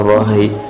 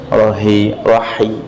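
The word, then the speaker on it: الرحيم: Masih terdengar rahim pakai hak besar ya maksudnya ya. Rahim, hak kecil.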